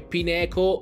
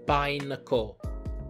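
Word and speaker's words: Pineco: sempre sentiti pronunciati bene ma qualcuno dice pineto e no dai pine o perché pineto e viene da pine con che è appunto la che appunto la pigna possiamo saltare un'altra bella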